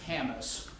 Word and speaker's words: Hammis: We will have a Detective Haley Hammis, and I want to make sure I pronounce that right, it's Hammis.